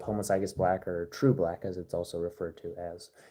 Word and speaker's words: homozygous: Yeah, homozygous is what that's pronounced as.